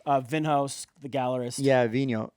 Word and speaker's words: Vinhos: vinhos the gallerist yeah vino you know v-i-n-h-o-s yeah i think yeah i think that's how i hear it pronounces but i haven't